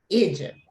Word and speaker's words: Egypt: Pero al ser la letra E, es la regla que habíamos visto hace un ratito, la E seguida de una consonante, en ese caso la pronunciación es E, Egypt, okay?